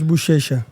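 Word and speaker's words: Buchecha: How do you pronounce his name for me, bro? So I don't butcher. Marcos Bushesa.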